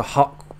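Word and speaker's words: haute: when it comes to hot Cuisine there one f word France so but she said hot is in ha u t I believe it's spelled um but that's like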